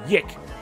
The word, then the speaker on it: Y2K: earlier this year called Yik, Y2K, but it's spelt like Yik, so I say that.